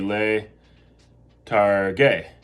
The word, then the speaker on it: targhe: It would be le targhe. T-A-R-G, let's see if you remember how you keep the hard G there. T-A-R-G-H-E, letarghe, va bene.